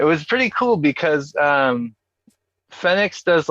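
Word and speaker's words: Fénix: gotta say it fast now we get fenix instead of fenix um we gotta pronounce it like the spanish do why correct us after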